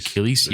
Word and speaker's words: Keighleys: But that's why they're known as the Keighleys. The Keighleys, You said it right on the off.